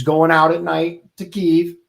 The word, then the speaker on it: Kyiv: This is Kyiv. That's how you pronounce it, right? Yep, Kyiv.